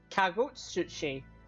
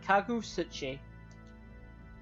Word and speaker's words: Kagutsuchi: Kagutsuchi. That's how you pronounce that. Kagutsuchi.